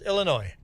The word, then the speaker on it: Illinois: So you're from Illinois yourself and the S is silent. There we go. Just Illinois.